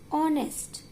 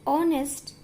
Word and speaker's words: honest: And we pronounce this word as honest. H is silent in both words. So, because of its sound R, A comes in vowel. And honest, O comes in vowel sound.